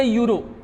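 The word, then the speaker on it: euro: यहां पे भी जैसे कि शी हैज ए यूरो। Sounds like you रो यानी कि यहां पे भी यो आ रहा है।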